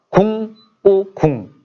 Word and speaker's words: 구궁: 근데 구궁은 구궁이라고 읽는 게 아니라 구가 먼저 시작하진 않아요. 보통. 그래서 궁, 꾸, 궁. 그러니까 구궁이라기보다는 사실 궁꾸지.